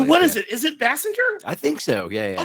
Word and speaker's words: Basinger: Everyone called her Basinger for so long, but it really is Bassinger. I So what is it? Is it Bassinger?